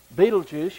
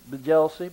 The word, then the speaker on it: Betelgeuse: First of all, you have Betelgeuse. Y'all remember the movie Betelgeuse? Some people pronounce this Bejelsey, but I like Betelgeuse.